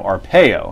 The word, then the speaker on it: Arpaio: it's just brett favre being referred to joe arpaio and that's how pronounced by the way make sure everybody knows